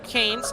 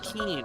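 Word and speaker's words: Keane: being here guys oh oh Matthew says Glenn Kane's name is actually pronounced Glenn Keen okay thank you very much pronunciations are not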